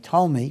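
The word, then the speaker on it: Ptolemy: t o l m Tom me we don't pronounce the P took Egypt now if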